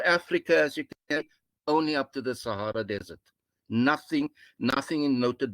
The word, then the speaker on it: Sahara: the unknown beyond the sahara desert it is sahara not sahara it's an arab world with the soft g you will see south